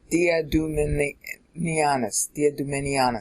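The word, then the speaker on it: Diadumenianus: Dia Dumenea. No, I can't even say it right today. Dia Dumenianus.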